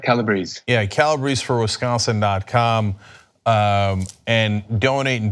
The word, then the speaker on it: Calabrese: Is it Calabrese? Is that how it's pronounced, the last name? Yep, Calabrese.